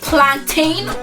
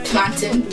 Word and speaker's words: plantain: in the bar below is it plantain or plantin plantin I think you're supposed to pronounce the whole word this time the Africans got it right plantain plantain and and